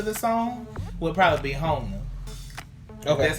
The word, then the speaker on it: Jona: Actually, I think my favorite, pertaining to just like connecting to the song, would probably be Hona. Okay. That's how you say it. Okay. Hona.